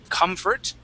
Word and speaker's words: comfort: Comfort. Okay, so we're going to add the accent to the end. So we're going to say, or I'm sorry, at the beginning we say comfort.